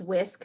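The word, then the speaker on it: WSCC: And right here, before we conclude, I want to let you know that there is this model, and it's pronounced whisk, very much like a kitchen whisk, and the W is whole, the S is school, and the C is community, and then child.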